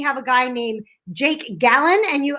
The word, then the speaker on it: Gallen: Okay, I am so excited because today we have a guy named Jake Gallen, and he told me you say it like a gallon of milk, but it's spelled Gallen.